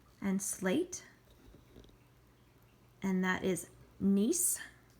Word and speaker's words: gneiss: And then under metamorphic, we have marble, which a lot of us recognize, and slate, and that is gneiss, pronounced gneiss with a silent G, and schist, all different types of rocks.